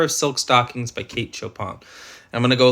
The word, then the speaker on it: Chopin: Katechopin, Kate Chopin, pronounced Chopin.